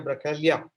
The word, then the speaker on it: Bracaglia: Claudia Bracaglia. I hope I am spelling the second name right because G is silent in Italian, as I realize.